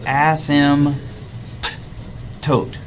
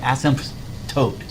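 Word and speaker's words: asymptote: get in there right ASM tote right ASM tote ASM tote so the p is kind of Silent just try to pronounce it without the P asmt okay so the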